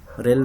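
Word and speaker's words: RHEL: Just pronounce rail 9.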